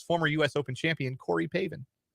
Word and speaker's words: Pavin: Pavin. Like, spelled like Gavin, but with a P. It's Pavin Smith.